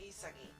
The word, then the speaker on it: Isagi: on the main character yoi isigi who is or isagi how most people pronounce it and he's a protagonist